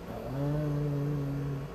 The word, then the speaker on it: Om: Eles ficam falando Om, Om, todo o tempo, repetindo essa pequenina sílaba. É OM, mas a gente pronuncia como OM.